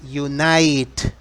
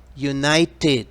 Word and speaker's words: United: pronunciar palabras como esta recuerda United United como termina en Ted se pronuncia TT United States Estados Unidos